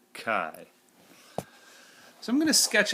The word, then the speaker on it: chi: and yeah again it's it looks like it's pronounced Chi but it's actually pronounced Kai Kai so I'm going to